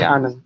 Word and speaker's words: Anand: Just say Anand. It's easy.